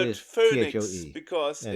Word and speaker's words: Foenix: Phoenix. Because it's the F256K, right? But it's spelled Foenix.